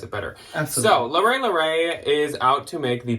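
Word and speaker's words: Leret: here but it is spelled l-e-r-e-t-l-e-r-e-t to the folks from the Midwest it is not Loretta red no as I once previously thought yeah also if you're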